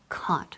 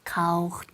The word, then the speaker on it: caught: Al contrario de lo que muchos estudiantes piensan, el pasado del verbo to catch, que es caught, se pronuncia simplemente así, caught, sin rastro de la G.